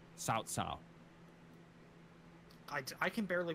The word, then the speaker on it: Cao: It's cow, but it's got to be pronounced Cao.